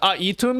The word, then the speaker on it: Aitum: Am I have I been saying it wrong the whole time or is it some weird pronunciation like aum? Uh yeah, we're using aum here.